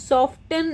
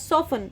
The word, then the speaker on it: soften: It is not pronounced as soften, it is pronounced as soften, which means to become soft.